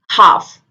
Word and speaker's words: half: याद रखें जब भी L D F K M से पहले आए, D F K M से पहले आए तो L को बोला नहीं जाता. L is silent in that word.